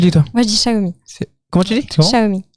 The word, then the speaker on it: Xiaomi: Donc on vous en Xiaomi, ça s'écrit Xiaomi. Mais phonétiquement, ça se dit, Pierre? Xiaomi.